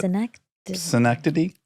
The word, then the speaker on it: Synecdoche: When you did synecdoche, I can't pronounce it, but synecdoche?